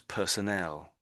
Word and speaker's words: personnel: And the other one was personnel. So personal and personnel. So it is sort of it's sort of an ow and an el.